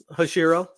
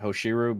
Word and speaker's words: Hoshiru: If you guys ever find the time, Hushiru, sorry. Did you, however you pronounce it? I always pronounce it Hoshiru, but no, I just misspoke.